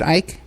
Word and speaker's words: Icke: Is that how you pronounce it, David Icke?